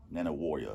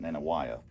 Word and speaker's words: Nanih Waiya: And by the way, that's how you pronounce it. Nanih Waiya, which sounds weird. Waiya? That's what Robbie Falk of the Starkville Daily News told me one time. Okay. I used to pronounce it Nanih Waiya.